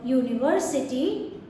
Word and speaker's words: university: There it's a vowel sound, whereas in a university, whereas in this word university, the sound is U, not a vowel sound, it's a consonant sound.